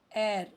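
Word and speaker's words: heir: एयर यहां पे H silent है।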